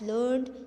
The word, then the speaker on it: learned: So because of that, this learned is a describing word, right. So we pronounce it as learned to rhyme with created weighted. Learned, we at the last ed we used to pronounce it id, okay, like that.